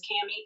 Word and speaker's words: CamE: is just my name which is cami it's spelled like came last name but it's all together and then when you